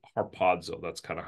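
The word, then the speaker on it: ἁρπάζω: it's the word in in Greek you'd pronounce it harpazo right there whoops harpazo um most of you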